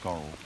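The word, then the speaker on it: Scorhill: It's spelled Score Hill, but it's usually pronounced Scorrel.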